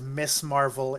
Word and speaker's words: Ms. Marvel: Marvel is well, I'm kind of annoyed because they do pronounce it as Miss Marvel in the show.